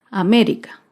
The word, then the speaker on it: América: otro claro ejemplo es la palabra américa américa se acentúa en la antepenúltima sílaba américa otro ejemplo es la